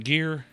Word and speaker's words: Gere: Gere.